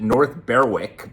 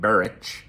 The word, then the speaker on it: North Berwick: And so one day I went to a town called, well, I pronounce it North Berwick, but I think they pronounce it Berwick or something to that again. Something like that, which is about 40 minutes outside of Edinburgh.